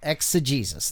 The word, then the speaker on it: exegesis: So exa, it almost has an A sound. Exa. And if you look at that right over the E, that's a long E sound. So it's Jesus. Yeah. Exegesis.